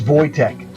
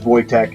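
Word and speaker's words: Wojtek: it's not wch it's voch that's how the Polish pronounced this name so just a little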